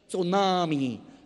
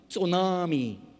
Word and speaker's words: tsunami: It starts with a T, but you don't pronounce the T. Tsunami. Tsunami.